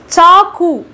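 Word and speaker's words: चाकू: சாக்கு, சாக்கு, சா சிஹெச் சவுண்ட் வரணும், சா, சாக்கு அப்படின்னா கத்தி அப்படின்னு அர்த்தம்.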